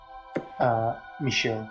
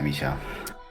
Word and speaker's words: Michel: Because Poirot asks the Dragonlit conductor, who is named, is it Michel? How does one pronounce it in French? Michel. Michel, okay. Yeah, Michel.